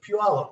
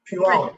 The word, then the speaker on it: Puyallup: Remember, Robin, it's Puyallup. Say it like you live there. Puyallup.